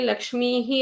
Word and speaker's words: लक्ष्मीः: ಅಲ್ಲಿ ಕರಾಗ್ರೆ ವಸತೆಯಲ್ಲಿ ಲಕ್ಷ್ಮೀಹಿ ಅನ್ನು ಪ್ರಾಕ್ಟೀಸ್ ಮಾಡ್ಬೇಕು. ನಾವೆಲ್ಲರೂ ಕೂಡ, ನಾನು ಕೂಡ ಮೊದಲೆಲ್ಲ ಹಾಗೆ ಹೇಳ್ತಾ ಇದ್ದಿದ್ದು, ಕರಾಗ್ರೆ ವಸತೆ ಲಕ್ಷ್ಮೀ ಕರ ಮಧ್ಯೆ ಸರಸ್ವತಿ, ಅದೇ ಅಭ್ಯಾಸ ಆಗಿರುತ್ತೆ. ಅಲ್ಲಿ ಲಕ್ಷ್ಮೀಹಿ ಅನ್ನೋದನ್ನ ಪ್ರಾಕ್ಟೀಸ್ ಮಾಡಿ.